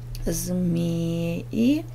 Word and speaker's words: змеи: Змеи, змея. Ударение ставим змеи на первый слог.